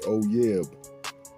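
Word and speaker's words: אוֹיֵב: And the pronunciation of that Hebrew's word 341 is oyeb.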